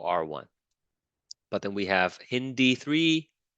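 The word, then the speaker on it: HindIII: look for the italics So HIN is italics. So you say that hin, and then these are not italics. Then you say D3.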